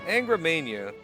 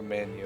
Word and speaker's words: Angra Mainyu: And here's our first boss, Angra Mainyu. Or Manu as it's supposed to be pronounced, I think.